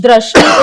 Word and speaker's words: Drashti: So yeah, D or Drashti, how should I call it? Am I pronouncing it correct? If you're saying it right, then you can say Drashti. Drashti is right?